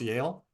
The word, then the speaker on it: Yale: Also, the other one that you mentioned, I thought that was pronounced y'all. So it's pronounced Yale.